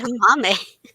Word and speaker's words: edamame: Edamame. Edamame. Kind of rhymes. Sounds like gourami. Kind of rhymes with gourami.